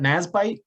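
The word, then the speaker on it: NASBITE: sbdc roberta wench is a nat do you pronounce that nasbyte n-a-s-b-i-t-e certified global business professional with over 15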